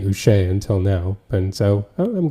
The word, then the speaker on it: Uche: he's been recently saying he wants it pronounced Joshua Uche, Uche. which Okay. is because I've definitely been calling him saying Uche for his entire career up until this point, but Yeah. it's apparently Joshua Uche.